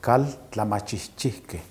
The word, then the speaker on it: Kaltlamahchihchihke: casa de la cultura viene del náhuatl y es la pronunciación es caldo la machi que que significa la casa